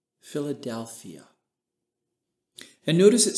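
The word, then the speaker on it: φιλαδελφία: Let me pronounce that phrase for you in the Greek. Philadelphia.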